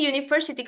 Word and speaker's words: university: Jadi kita tergantung cara membacanya. Di sini university kebalikannya.